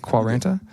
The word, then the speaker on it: quarenta: Quarenta? You did. Quarenta?